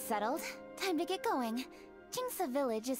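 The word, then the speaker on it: Qingce: Jingsa. So that's how you pronounce it, Jingsa.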